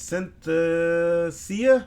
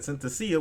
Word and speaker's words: Synthesia: and I hate this because I can never pronounce this word it's sent to Sia I think that's it Synthesia which allows you to create a AI Avatar